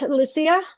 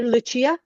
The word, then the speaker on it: Lucia: It's like the the Portuguese do it.